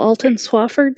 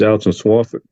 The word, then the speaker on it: Alton Swafford: would like to call Alon Swafford sir will you state your name for the record my name's Alton Swafford excuse me sir I'm sorry I mispronounced your name um do you agree